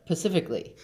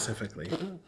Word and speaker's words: specifically: But I've never heard the pacifically. Maybe they're just not Specifically.